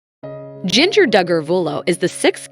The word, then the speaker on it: Jinger: 19 Kids and Counting her name is pronounced Ginger all the siblings have names that begin with J the Duggars are known